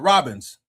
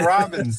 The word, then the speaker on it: Robbins: Uh Robbins. Man, you know I be forgetting how to pronounce it every time. Probably cuz I didn't enjoy the book. But, Robbins, like the bird.